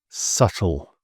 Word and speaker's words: subtle: So B is often quiet if it follows an M or before a T. And historically, in sort of old English, these B's used to be pronounced, but the language evolved and the sound disappeared, but the spelling has stayed.